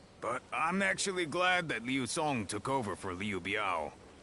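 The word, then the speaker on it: Liu Cong: His son, Liu Song, is how you say his name, went on to succeed him, leaving Liu Bei with the task of guiding the young leader.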